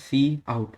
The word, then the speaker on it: cout: is also predefined and it is pronounced as c out so it is used